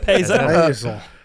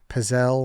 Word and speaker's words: pizzelle: How do you even spell that? Yeah, awful spelling by Lance. Puzzle. That's Payzel. Pizzelle. I put Pizzle. LLE. Yeah, Pizzelle.